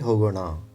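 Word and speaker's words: ಹೋಗೋಣ: Here you need to pronounce it properly. Hogo na. It is not hogo na. Na means you will probably touch your tongue to the teeth inside. Hogo na. But this is hogo na. Na means you may have to touch your tongue to the top portion of your mouth.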